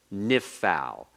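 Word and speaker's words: נִפְעַל: know the Hebrew conjugation the name is nif Al listen to the sounds of the words nif FAL nishmere nifcad all right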